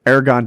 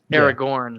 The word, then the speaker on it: Aragorn: side of this spoiler aragon doesn't die aragon is going to be put in all kinds of precarious positions in this prequel am i saying his name wrong aragorn aragorn thanks he's going to